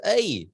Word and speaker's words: Ei: directory that'll be EI it's pronounced a but uh to uh to probably to the English speakers um you will look at look at it and find it as e i in the business directory